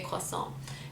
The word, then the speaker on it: croissant: with chocolate it's amazing we we say croissants i mean it's a originally french word so i say koison and nougat we say